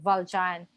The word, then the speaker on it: Valjean: So, Valjean or Valjean. Kasi it's French, Valjean.